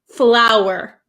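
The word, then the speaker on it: flour: L urur okay so these are both pronounced exactly the same so don't worry they're both pronounced flower flower so f l w e r it has a w flow and the other one like a how you with h for cooking flower it's exactly the same even though there's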